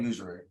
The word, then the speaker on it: usury: How do you pronounce USURY? I call it usury. Yeah, it's usury.